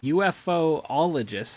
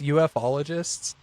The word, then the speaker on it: ufologists: Get Berkshire Hairspray now, and you'll have UFOologists. How do you pronounce that? I think it's just ufologists.